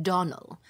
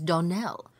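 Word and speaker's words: Donnell: you pronounced our name Donell now Miss Shirley the correct pronunciation of our name is Donell Accent on the last syllable I hope you'll remember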